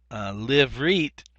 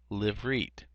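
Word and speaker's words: לִבְרִית: Livrit is the next one that we'd pronunciate for a covenant. Livrit.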